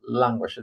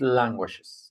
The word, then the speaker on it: languages: Languages. The pronunciation of of the word is languishes. No languages. Languages.